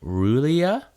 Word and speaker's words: R'lyeh: did you read about railay people abroad oh god is pronounced ruh Leah or a ruler oh yeah is a